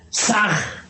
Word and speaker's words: Sah: Ham escribe con las letras H-A-M. Saj se escribe con las letras S-A-H. La H suena siempre como J.